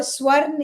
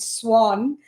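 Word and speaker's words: Swarn: pronounce your last name sworn so sworn in my home land of India and Swan when I come to America so it's okay either way the r is to be pronounced I love it I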